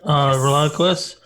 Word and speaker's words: ReliaQuest: also the enterprise architect at how do you pronounce that? ReliaQuest? That's correct. ReliaQuest.